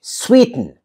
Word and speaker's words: sweeten: I don't say sweeten, I say sweeten. Sweeten, right? So now the fourth category is the noun category.